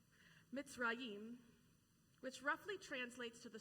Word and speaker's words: Mitzrayim: Now, in Hebrew, the Hebrew word for Egypt is maybe pronounced like this, Mitzrayim, which roughly translates to